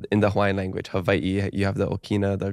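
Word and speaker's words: Hawaiʻi: Hawaii you know it's you have a different pronunciation of the W sometimes but in the Hawaiian language just to clarify for people who are curious Havi is the Hawaiian way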